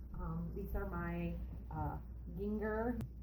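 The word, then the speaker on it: Gingher: these are my uh ginger g-i-n-g-h-e-r that's how my mom taught me how to say it it's not ginger and they're always really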